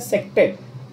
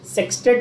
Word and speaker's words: sextet: Okay, a carbon atom having सेक्टेट of electrons, SEXTET, generally pronounced as सेक्टेट। सेक्सटेट भी पढ़ते हैं लोग इसको, इट is okay, but the actual pronunciation should be सेक्टेट।